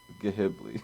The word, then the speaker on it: Ghibli: I need you to pronounce it correctly. Ghibli.